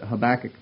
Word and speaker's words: Habakkuk: Whether they did it correctly or not, I don't know, but Habakkuk was the pronunciation. So if you're used to saying Habakkuk instead of Habakkuk, my apologies, it'll sound awkward to you every time I use the word.